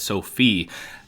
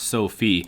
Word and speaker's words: SoFi: been some comments correcting me saying that it's sophie i did actually research it and there was